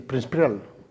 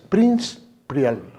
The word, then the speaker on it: Príncipe Real: Príncipe Real es Prince Prial. 2. De 5 sílabas, 2.